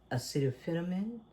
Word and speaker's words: acetaminophen: But that's a kind of, when you heard him say acetaminophen, and I know that you pronounce acetaminophen.